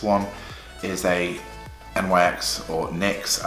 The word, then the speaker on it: NYX: is a MX or NYX as they're officially pronounced what I like about